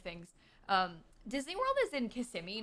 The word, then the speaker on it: Kissimmee: I know that Sasha and her family always called it Kissimmee because they didn't know. But Kissimmee is what the people around here say.